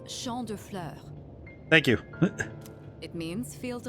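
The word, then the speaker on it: Champs de Fleurs: Champs de floors? How do you say that? It's Champ de Fleurs.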